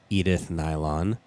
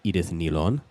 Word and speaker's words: Edith Nylon: a pretty cool move their name is actually pronounced edith nilon this was off of